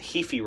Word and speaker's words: Heaphy: And I would recommend that people read what was called the Heafy report. That's spelled Heaphy. Heafy was an independent lawyer who did a long report detailing what caused the violence in Charlottesville.